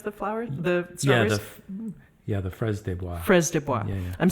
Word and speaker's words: fraises des bois: How do you pronounce the flowers? The strawberries? The fraises des bois.